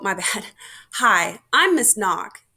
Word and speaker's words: Nock: oh my bad hi i'm miss knock pronounce n-o-c-k all right so what